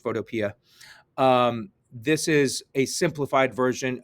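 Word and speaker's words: Photopea: a browser photopia uh pea like a green pea it's apparently pronounced photopia this is a simplified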